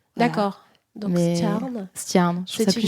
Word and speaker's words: Stjerne: Mais moi, j'aime bien dire Stjarn. En fait, c'est entre un E et un A en termes de prononciation en danois. Voilà. D'accord. Donc, Stjarn.